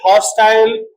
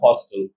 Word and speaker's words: hostile: American dosil British volatile American volatile and British hostile American hostile but in all these words the condition is